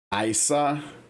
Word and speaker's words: Ayishah: It sounds like Isa. Isa it. Or maybe maybe the Y is silent. Maybe it's a Y s a H. How she's pronouncing it, right? I Isa.